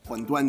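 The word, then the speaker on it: 馄饨: So what's interesting about these Shanghai huanduan, huanduan is how you say in Mandarin, how you say wonton.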